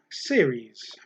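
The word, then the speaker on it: Ceres: or a roman god series that's c-e-r-e-s i've actually written down how to pronounce that one s-e-e-r-e-e-z series the question 38 series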